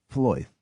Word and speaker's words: Flawith: Flawith is Floyth.